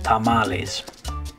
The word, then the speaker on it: tamales: But since this one came from Spanish, we just kind of adopted that pronunciation, tamales.